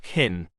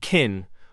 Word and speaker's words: can: the most modal verb kin when we use the positive form of kin we quickly Glide over the can and it is hardly pronounced they can come on